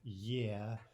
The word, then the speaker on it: Е: For example, the letter E. It looks like a letter E, right? But in Russian, it's yeah.